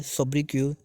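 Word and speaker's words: sobriquet: Hence his common सोब्रिक्वी, यहाँ पे T silent है, सोब्रिक्यू डेन स्विफ्ट, इनको डेन स्विफ्ट के नाम से भी जाना जाता है।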